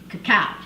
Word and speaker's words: cacao: and oopsie and they the British could not pronounce cacao so they called it cocoa is when we get cocoa or chocolate from so it's actually cacao so let's talk a